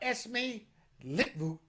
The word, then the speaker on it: Esmee Litjens: It's pronounced Esmee Litjens.